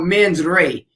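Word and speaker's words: mens rea: there for us non-lawyers a term that's called men's ray m-e-n-s-r-e-a i i think i'm pronouncing that correctly but it's a latin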